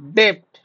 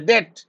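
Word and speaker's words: debt: अ माने कोन एटा आसीबो बी the correct pronunciations of डेप्ट एटा हम कोन कहै डेट बोली कहै डेट कोन कहै ना सर डेट बोली कहै डेप्ट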